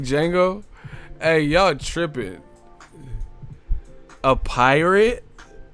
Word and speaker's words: Django: You a beast, but I didn't understand the Django. The D is silent.